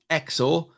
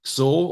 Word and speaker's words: XOR: Remember, it's pronounced XOR, not XOR or anything futuristic and sci-fi.